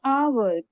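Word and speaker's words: hour: X ray और एन FDO remember silent H यू एन यहां जैसे हमने लिखा आवर लेकिन लिखते हैं एच ओ यू आर लेकिन हम इनको प्रोनाउंस क्या करते हैं आवर यानी ओ यू आर को प्रोनाउंस करते हैं और लिखते हैं एच एच ओ यू आर इसमें हम हनेस्ट मैन ना बोल के ऑनेस्ट मैन बोलते हैं और हियर ना बोल के एयर बोलते हैं।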